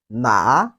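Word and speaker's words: 哪: 什么啥 Then the second one, which in Chinese is pronounced as na. It has the third tone of Chinese language.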